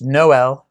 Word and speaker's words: Noel: new police chief and that is pronounced noelle noel like the song no merry christmas no no no not noel uh uh it's noel and uh he is